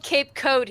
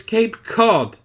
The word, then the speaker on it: Cape Cod: called its Cape Cod it's spelled Cape coat yes but you should know it's Cape Cod I know but I'm